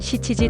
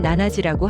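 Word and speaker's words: 七時: 예를 들어 4시를 말할 때는 요지라고 하고 7시를 말할 때는 시치지 또는 나나지라고 할 수 있습니다.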